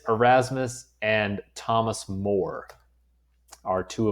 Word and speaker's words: Erasmus: That is how you say those two names. Desiderius is his first name. Erasmus is his last name.